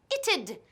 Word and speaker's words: it'd: Y piensa en la pronunciación. Es it'd. It'd. It'd.